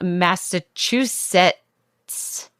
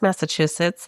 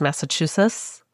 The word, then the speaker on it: Massachusetts: And if you pronounce Massachusetts like Netty does, which is Massachusetts, you can also send us your stories.